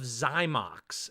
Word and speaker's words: Xymox: It is titled "Masquerade" by the band Clan of Zymox, and it's spelled XYMOX.